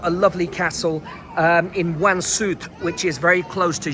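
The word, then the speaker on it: Łańcut: three stops from Jes and you will see Wansuit Castle. It's spelled L A N C U T.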